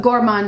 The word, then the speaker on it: gourmand: gor sweetness to it the Gourmand note you know uh gormand is the American pronunciation what I like to